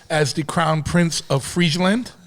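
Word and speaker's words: Friesland: the Crown Prince of freand did I say it right Freeland you did yes you did which is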